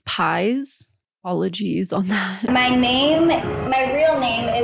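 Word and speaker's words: Paiz: I want to hop in real quick and say, I think I might have pronounced Catherine's last name incorrectly. I've seen a lot of mixed takes on this one. Apparently it's Pies.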